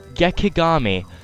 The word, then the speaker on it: Gekigami: At last, the 12th god, Gekigami. I have trouble pronouncing it without making the K seem like a G.